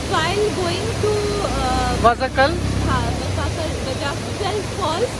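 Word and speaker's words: Vazhachal: So the correct pronunciation is Vadachal, which we got to know.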